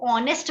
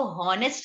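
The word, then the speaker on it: honest: focus करना है कि को ऑनेस्ट बोलते हैं इसको हो नेक्स्ट नहीं बोलते फिक्र वन मस्ट बोल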